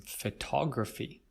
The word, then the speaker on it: photograph: is photograph different from photography well you'll notice first the stress when we say photo or photograph we stress the first cell bones photograph but with photography we